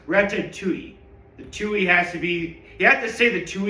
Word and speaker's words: Ratatouille: By the way, it's pronounced retui.